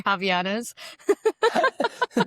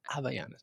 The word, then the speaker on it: Havaianas: Javianas. Actually, it's pronounced Havaianas.